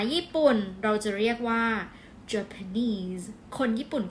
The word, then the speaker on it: Japanese: เรา จะ เรียก ว่า Japanese คน ญี่ปุ่น ก็ เหมือน กัน นะ Japanese เน้น ที่ neese เหมือน chines Japanese โอเค